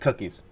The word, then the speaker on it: Cookiss: I always call them Cookiss, but it is pronounced Cookiss. I ask them. It's just Cookiss.